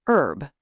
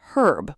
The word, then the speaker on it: herb: British say herb with a strong h sound. So in America, the herb garden is an herb garden. That one always surprises people. The h is silent in American English.